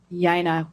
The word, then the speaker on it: Jena: It's Jena, J-E-N-A, pronounced Y.